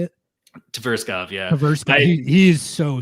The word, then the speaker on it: Tverskov: Tverskov, yeah.